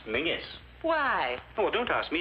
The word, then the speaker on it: Menzies: And Menzies is pronounced Mingus.